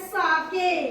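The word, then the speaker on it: sake: लिख के है से बट we have to pronounce it एज साके क्या सा के जैसे सा को पढ़ना है जैसे हम फदर में एफ ए को क्या पढ़ते हैं फ ऐसे ही इसमें पढ़ना है एस ए को सा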